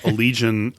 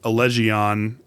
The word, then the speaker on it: Allegian: I mean, for years I called Allegian Allegion and then I got corrected by the the old vocalist of the band.